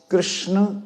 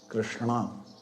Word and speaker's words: कृष्ण: कृष्ण जब हम उच्चारण करते हैं ना, हम ऐसे बोलते थे ना, लेकिन ना ऐसा नहीं होता। अणा, कृष्णा, कृष्ण। जीव ऐसे घूम के आएगी। बोलो कृष्ण, जीव अंदर चलेगी।